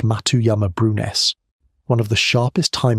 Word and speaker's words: Matuyama-Brunhes: Earth's magnetic field flipped polarity, the Matuyama-Brunhes reversal, pronounced Matuyama-Brunhes, one of the sharpest time markers that exist anywhere on this planet.